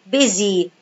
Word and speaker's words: busy: I write S but I pronounce it Z. Busy.